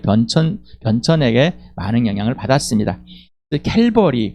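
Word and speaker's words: Calvary: 캘버리 그래서 우리 말로는 그대로 갈발이라고 하는 거 좀 그래서 갈보리라고 읽었는가 봅니다. 그대로 읽으면 갈바리가 될 건데 갈보리로 어 이렇게 읽었는 것 같습니다.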